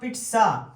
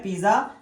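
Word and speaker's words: pizza: पिज्जा भेजा जा रहा है, द पिट्सा, इसकी प्रोनाउंसिएशन पिट्सा होती है, पिज्जा नहीं होती।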